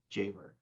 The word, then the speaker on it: Javor: I wanted to say it differently as I said it to you before, and you go, that's not how you say it.